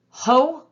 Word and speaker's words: hotel: You may notice from this word that the first vowel is long because it's an open syllable.